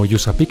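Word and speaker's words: USAPEEC: Síguenos en redes sociales como USAPIC LATAM para que te enteres de nuestros eventos y las actividades que realizamos. USAPIC se escribe USAPEC, USAPIC LATAM.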